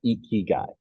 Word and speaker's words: IKIGAI: Go IKIGAI LLC is the name of the company, but you said it right, IKIGAI.